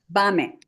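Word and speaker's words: במה: a roll there, so we're going to change the stress to bame. Bame. Okay. The stress goes to the It goes to on the first syllable.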